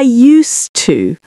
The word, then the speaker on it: used to: When you say, I used to. So again, we've got the S sound, not Z.